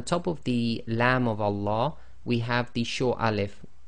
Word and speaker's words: Allah: fata so always remember the Lamb of Allah is always two lengths long so in conclusion we